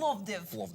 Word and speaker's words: Plovdiv: you're Plovdiv, you've got to say it like that.